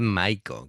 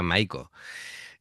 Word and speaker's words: Maiko: Me pasa cada vez que las veo creo que es Bad Maiko, que lo he pronunciado mal, ¿vale? Me he tomado yo en plan en inglés y sería Maiko.